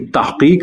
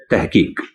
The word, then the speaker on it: تحقیق: اور بولا جائے گا تو اس کا اردو تلفظ درست ہوگا، یعنی تحقیق نہیں تحقیق۔ بعض مدرسے والے ہا کو بھی خوب حلق